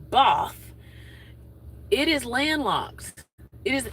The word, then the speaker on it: Bath: And Both is spelled B A T H like Bath, but it's Both.